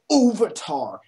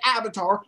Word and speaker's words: Avatar: No one says Ovatar. Everyone says Avatar. Hell, James Cameron came out with a movie called Avatar months before this Avatar.